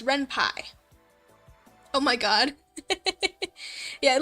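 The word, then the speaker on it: Ren'Py: Is it not pronounced Ren P? Um so the pi comes from Python. Um and it's supposedly the name Renpai is also a pun on Reni, which is a Japanese term.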